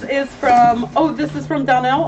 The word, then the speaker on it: Donnell: It's Donnell, and I'll spell that.